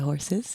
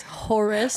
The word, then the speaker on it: Horus: Back to the horses. Nice. No. Oh, it's not horse. It's Horace.